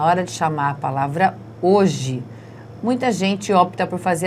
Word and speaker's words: hoje: Hoje. Qual foi a sílaba que eu fiquei mais tempo pronunciando? O O. Por isso, essa é a sílaba forte.